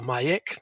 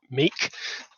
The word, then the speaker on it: Miek: my name is mike which is pronounced mike or mayek not meek which everyone incorrectly pronounces uh i'm from new